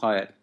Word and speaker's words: Hieatt: Because Hieatt. Yeah, it's a mouthful, but it's pronounced Hyatt.